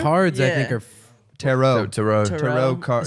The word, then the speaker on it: tarot: Tarot.